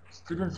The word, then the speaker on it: students: Try pronouncing like this, stew, students, without the T sound, without T, but actually students.